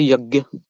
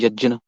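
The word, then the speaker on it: यज्ञ: what do you say normally I say yag and when we go in the proper Sanskrit term we can call it y yajna okay I think that's easier to pronounce okay go ahead so about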